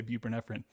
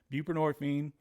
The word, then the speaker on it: buprenorphine: taking the same medication bu buprenorphine right is how you say it I used to say bu nephrine buprenorphine um a lot of